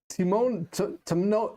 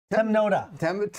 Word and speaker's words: Temnota: The Timnota. Yep. Temnota. Yeah, so close. Yeah, you're close.